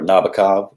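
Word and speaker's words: Nabokov: say flat beer uh bakav is another one or nabikov if you're if you're sting and pronouncing it for a song for the police uh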